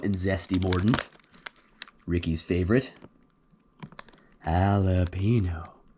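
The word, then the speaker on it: jalapeño: Halapeno. Not jalapeno.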